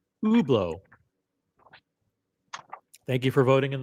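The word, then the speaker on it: Hublot: brand and it's overwhelming the poll is over 85% of you say it's ublau it's not Hubllo okay so I'm not crazy it's ublau thank you for voting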